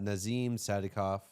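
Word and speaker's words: Nazim Sadykov: So next one we have Nazim Sadikov, right? Yeah, that's how you say it.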